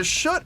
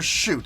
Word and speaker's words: Schutt: It's either Schutt or Shoot. I've heard people pronounce it both ways, but I've heard most people say Gary Schutt, so we're gonna go with that.